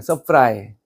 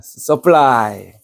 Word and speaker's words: supply: 서프라이. 우리한테 과자 좀 공급해줘. 그렇게 하는 거예요. 서플라이. 정확한 발음은 서플라이인데 써뿌려라.